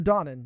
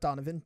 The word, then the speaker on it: Donnan: Wakefield welcome to Ailish Mar how about what do you know about Lourdes Donovan her Donnan not Donovan Donnan so you've not seen